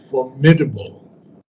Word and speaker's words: formidable: Formidable. Formidable. Formidable. Formidable. So that is correct. How did you get these British pronunciations?